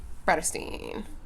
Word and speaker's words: Bratterstein: my name is my channel name is pronounced predestine today's video is going